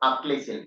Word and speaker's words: Achilles heel: This is something called Achilles heel. Try to pronounce it correctly.